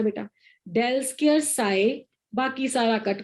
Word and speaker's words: del: है, reverse triangle, और इसको पढ़ते हैं डेल। क्या पढ़ते हैं बेटा इसको? डेल। del When you have to pronounce it out ना, you have to say del square।